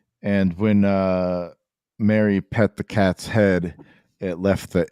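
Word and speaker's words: cat sìth: But so this is what I wanted to bring up when Ben was here, is the cat she, the legendary tales of the cat she, or Sith, or Sith, but pronounced like she or she.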